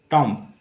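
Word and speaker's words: tomb: अंगूठा थम का मतलब टॉम टी ओ एम बी टॉम टॉम का क्या मतलब जानते हैं तो टॉम को हम लोग टम कहते हैं टम इंग्लिश में प्रोनाउंस करेंगे टुम टम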